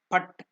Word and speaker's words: Phat: Phat, the mantra. See, we have given that the mantra P-H-A-T, Phat. The pronunciation exactly. Sanskrit it is written as P and T, half T. So that is Phat, P-H-A-T, Phat.